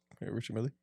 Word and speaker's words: Richard Mille: fake can you help me out with the pronunciation of this is Richards Millie Richard Millie yeah Milly to ex label CEO so this